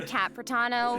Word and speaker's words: Capano: And hosting with me today we have Hey everyone, I'm Capano rhymes with Capitano, the voice of child's master Skirk.